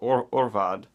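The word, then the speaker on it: Ørval: The Mikkeller Gypsy Brewer beer Arh Vad, which is A-R-H, but it's A with the O over it, meaning you pronounce it O. So Orval.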